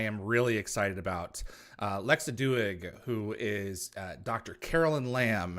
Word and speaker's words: Doig: Is it Doig? Did I pronounce it right? It's actually Doig, and Doig.